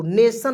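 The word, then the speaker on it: nation: कि यहां प देखि टी आई एन को सन पढ़ते हैं टन नहीं पढ़ते तो मैंने यहां प लिखा सन और एन ए का उच्चारण नेम के रूप में करेंगे जी तो नेशन हो जाएगा ठीक है चलिए उसके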